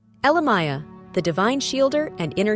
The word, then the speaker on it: Elemiah: Name, Elemiah, pronounced Elemiah.